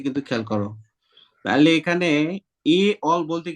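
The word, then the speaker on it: et al: এট ওটা কি অল, এক উচ্চারণ না এ অল উচ্চারণ হয়? হ্যাঁ হ্যাঁ, এটার উচ্চারণ এ অল, এটা এট অল, মানে যেভাবে আছে আমি ওইভাবে বলি, এ অল।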